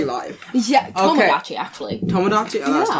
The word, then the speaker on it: Tomodachi: No, it's Tamagotchi and Tomodachi. Oh, that's probably where I get mixed up. Yeah. Tamagotchi. I learned that recently because it's Tomo. Tama goes with the gotchis.